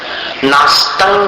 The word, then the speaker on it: नास्तं: नास्तं कदाचिद उपयासी, तंक आतंक जैसा बोलना, नास्तं कदाचिद उपयासी न राहु गम्यः, गम्यः विसर्ग का शुद्ध उच्चारण करना।